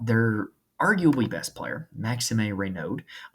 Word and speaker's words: Raynaud: Now, they're arguably best player, Maxime Raynaud. That's how I've been told to pronounce it is Raynaud.